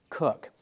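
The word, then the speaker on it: Coke: in your book it's spelled coch but it's pronounced cook now sir Edward cook was abusing the rights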